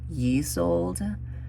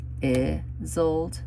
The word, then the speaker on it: Isolde: So we have, I was pronouncing her name Isolde, but Jessa says it's pronounced Isolde.